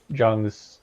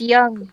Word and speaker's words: Jung: So you have to get through all of Jung's stupid lingo. It's young. That's how you say it. Young. I want to say Jung. Don't.